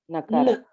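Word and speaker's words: नकार: In the beginning itself, I said you should not add a vowel before the consonant for pronunciation.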